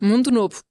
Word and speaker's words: Mundo Novo: É assim que se pronuncia? Mundo Novo.